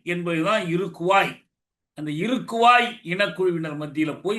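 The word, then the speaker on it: Iroquois: தப்பா இலிநாய்ஸ்ல்லாம் படிப்பாங்க இல்ல அது பிரஞ்ச் மொழியில அந்த உச்சரிப்பு இழிநாய் அதுபோல இருகுவாய் என்பதுதான் இருக்குவாய் அந்த இருக்குவாய் இனக்குழுவினர் மத்தியில் போய் இவர் வாழ்ந்தார் இருக்குவாய்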